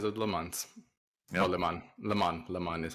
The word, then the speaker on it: Le Mans: Oh, Le Mans is how it's pronounced actually.